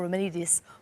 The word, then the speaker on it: Romanidis: there's such a depth of talent, including Michael Romanidis.